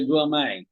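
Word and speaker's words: gourmet: ক নাই okay alright so আমরা দেখলাম যে উচ্চারণটা কি যে হাই কোয়ালিটি ফুড অথবা যখন আপনি এক্সপেন্সিভ ফুডের কথা বলতেছেন সেটাকে বলে গ্রুমে ওকে লেটস সি তাহলে আমরা জেনারেল টার্মস কিছু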